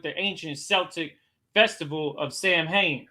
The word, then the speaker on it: Samhain: Right, but it's pronounced Samhain.